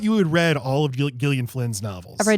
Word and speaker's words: Gillian: Um, but she started a Gillian Flynn did with that hard G.